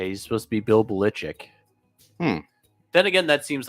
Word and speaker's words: Belichick: is his last name is supposed to be pronounced ballichik no it is not yeah he's supposed to be Bill Belichick then again that seems like something that he